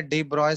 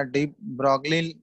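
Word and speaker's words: de Broglie: ठीक है, एक है डी ब्रॉय इक्वेशन या डी ब्रॉगली है लेकिन प्रोनाउंसिएशन इसका डी ब्रॉय होता है। ठीक है, ये प्रोनाउंसिएशन है।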